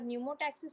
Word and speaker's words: pneumotaxic: P is silent.